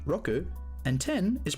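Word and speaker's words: ろく: is pronounced roku, and 10 is pronounced ju.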